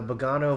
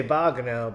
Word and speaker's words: Bogano: Force sensitives in the Bogano vaults. I used to say Bogano, but I started saying Bogano because it seems a lot of people were pronouncing it like that.